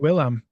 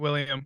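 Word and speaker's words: Willem: William defo yeah um it's Willam it's not William it's Willam that's what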